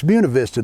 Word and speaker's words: Buena Vista: Don't go to Buena Vista uh Virginia and call it Buuna Vista. No, no, no. So, no, it's Buuna Vista. Don't call it Buista.